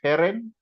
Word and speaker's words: Herren: Heren, heren, heren is with the rolling R if you're in Franconia.